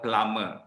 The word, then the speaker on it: plumber: with the ing form you don't pronounce the b so in english guitar is the silent b so climbing plumbing woken